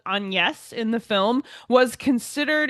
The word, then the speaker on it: Agnes: We've got Agnes, spelled Agnes. It's not pronounced Agnes in the film, and all the records we've heard about Shakespeare's wife call her Anne.